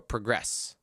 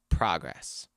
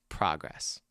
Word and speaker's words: progress: Okay, so which means the stress will be on the second syllable, right? So we have to say progress. Not progress, but progress because it's a verb.